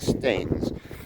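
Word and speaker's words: Staithes: seaside town of stamens s-t-a-i-t-h-e-s i think they're pronouncing that right stains and it was uh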